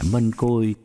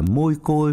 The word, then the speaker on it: Mân Côi: chắc cũng biết chứ Mân Côi là cách phát âm từ tiếng Hán Việt nghĩa là hoa hồng Rosa hoặc rosary có nhiều nơi đọc là môi Côi hoặc mai Côi hoặc Mai Khôi như vậy Đức Mẹ